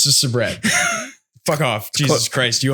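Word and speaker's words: Sabrett: Sabriquet? No, it's not. Sabrina Carpenter? Sabret. It's just Sabret.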